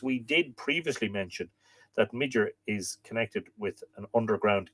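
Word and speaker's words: Midir: Midger, I'm told that in Middle Irish, if the D falls between two vowels, it's pronounced like a TH, mither. But I always say Midger, and I'm probably butchering it.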